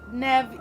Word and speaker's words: Nev: It's Nev, like Nev Campbell.